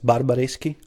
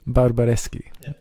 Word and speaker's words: Barbareschi: last name oh my my last name is barbareschi barbareschi okay when we look for you on Instagram